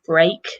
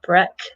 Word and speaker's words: break: a lucky break remember the pronunciation is break not Breck they're down on your